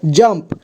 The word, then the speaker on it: जंप: रहा है ठीक है और देखिए यहां पर जंप यहां जंप लिखा हुआ है तो यहां पर जमप में अम का साउंड आ रहा है ठीक